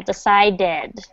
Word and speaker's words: decided: business good okay and don't forget that that decide dead because it ends in d d that d d ending that you pronounce the the last syllable decided decided good okay okay communication is